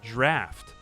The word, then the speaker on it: draught: Oh, it's still pronounced draft.